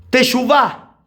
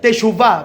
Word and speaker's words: teshuvah: Viene de una palabra hebrea también, teshuvah, se escribe con SH, teshuvah, B corta.